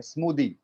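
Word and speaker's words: smoothie: Last में THIE है और उसको हम दी बुलाते हैं, स्मूदी.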